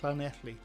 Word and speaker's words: Llanelli: How is Llanelli pronounced? Llanelli. When it's in Welsh, when it's two L's, it's that's what it is.